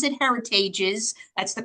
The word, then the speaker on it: Heritage's: that is their last name and you do pronounce it heritages that's the correct way to pronounce it um